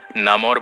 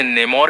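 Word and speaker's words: Namor: Comics में, movie में और साथ ही कार्टून्स में इसके अलग अलग प्रोनाउंसिएशंस हैं। कोई इसे नेमोर कहते हैं, कोई इसे नमोर कहते हैं, कोई इसे नामोर कहता है। तो आप लोग अपनी कन्वीनियंस के अकॉर्डिंग इस वर्ड को ले सकते हैं।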